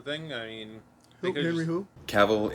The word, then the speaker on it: Cavill: I mean who who caval is pronounced like travel travel caval in the hood